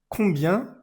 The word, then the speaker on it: combien: En francés, acá siempre decimos combien, que es como si fuera en amarillo, como si fuera, digamos que, del grupo de las amarillas.